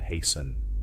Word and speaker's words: hasten: Remember that T is silent in often. Other examples are apostle, epistle, soften, and hasten.